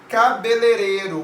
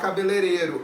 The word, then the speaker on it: cabeleireiro: fosse uma vogal só cabeleireiro muita gente costuma falar cabeleireiro é cabeleireiro tem uns aí a